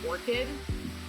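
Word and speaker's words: ORCID: would recommend is getting what we call an orchid um it's spelled o-r-c-i-d and you can go to the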